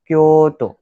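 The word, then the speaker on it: 京都: वैसे क्योटो का ओ पहला वाला प्रेस होता है, तो हो जाता है वो क्योतो. Okay, so this is the Japanese pronunciation.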